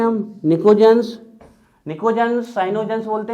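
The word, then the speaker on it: pnictogens: और इसका स्पेशल नाम लिखवा चुके हैं हम, निकोजेंस। निकोजेंस, साइनोजेंस बोलते हैं इनको, ध्यान रखिएगा। N से नाइट्रोजन, N से निकोजेंस, P साइलेंट होता है।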